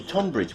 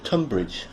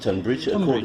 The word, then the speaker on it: Tonbridge: that Splendid intruction okay tonbridge well actually it's tumbridge it is pronounced tumbridge yes it is pronounced tumbridge not tonbridge they don't like it